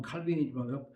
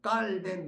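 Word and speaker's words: Calvin: 종교개혁은 루터가 종교개혁할 때 1517년인데 그때 8살 먹은 칼빈, 영어로 발음은 칼빈이지만 그 프랑스 사람이니까 깔뱅, 그렇게 깔뱅이라는 사람이 24살쯤에 이제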